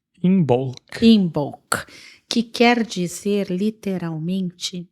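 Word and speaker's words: Imbolc: que é chamado a festividade de como como se escreve inbol é i m de Maria b de bola o l c inbol inbol que quer dizer literalmente na barriga da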